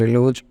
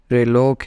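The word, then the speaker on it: reloj: called reloc in Spanish don't try to pronounce it as relu it is the way how it is written but it can be pronounced as reloc in Spanish and this is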